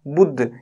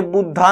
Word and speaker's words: बुद्ध: ये बुद्धा नहीं है, ठीक है ना, इंग्लिश में बहुत सारे मतलब बोले जाएंगे ऐसे, बुद्धा बोलते हैं कई बार, ये बुद्ध है, ठीक है। ए साइलेंट रहता है इन वर्ड्स में ज्यादातर में, क्योंकि हिंदी का वर्ड है।